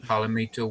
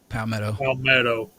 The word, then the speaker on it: Palmetto: Is it Palomito website? Palmetto.